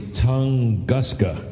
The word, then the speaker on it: Tunguska: This last release, and let me see, Tunguska.